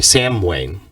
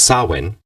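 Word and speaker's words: Samhain: and it it's proun it's written sorry Sam Wayne but it's sawin it's the pronunciation is often considered one of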